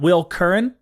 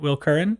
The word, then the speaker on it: Will Curran: slash marketing we've got will curran pronounce that right right will current yes okay will curran endless events